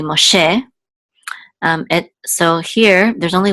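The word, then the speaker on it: Moshe: the same O'Shay but in Hebrew it's really ma che and so here there's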